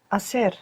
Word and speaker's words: hacer: Begins with a silent H. Hacer.